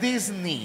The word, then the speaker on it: Disney: La pronunciación correcta es Disney.